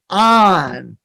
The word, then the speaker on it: Oanh: So your middle name is actually Kim, but your first name is Oanh, which I mispronounced. I thought I had it right. No, it's Oanh.